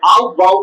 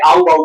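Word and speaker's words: Aufbau: आउटबाऊ आउथबाऊ इसको ऐसे आऊबाऊ बोलते हैं लोग ठीक है ना ऐसे एफ साइलेंट है क्या है साइलेंट है तो आउटबाऊ है लिखा हुआ लेकिन इसको आऊबाऊ प्रिंसिपल बोलते हैं है ना तो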